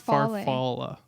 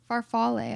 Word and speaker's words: farfalle: Farfalla. Your favorite is farfalla. Farfalle. I think it's farfalle. Oh, see? It's your favorite so hard that you know the proper pronunciation.